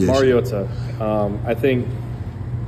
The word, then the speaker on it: Mariota: Like, what is the right pronunciation? Mariota. Um, I think it's been said over the years like Mariota. Um, which is incorrect. And it's pronounced Mariota.